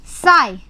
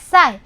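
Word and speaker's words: ψ: इसको हम बोलते हैं साई, ठीक है, ऐसे प्रोनाउंसिएशन करते हैं साई।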